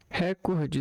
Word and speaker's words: recorde: Recorde está incorreto. A sílaba tônica é corde. Corde. Mas a palavra não é acentuada.